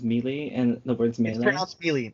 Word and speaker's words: Melee: You're one of those people that says melee and the words melee. It's pronounced Melee.